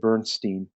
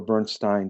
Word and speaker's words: Bernstein: American composers and conductors uh Leonard Bernstein or Bernstein depending upon how you choose to pronounce it and he had a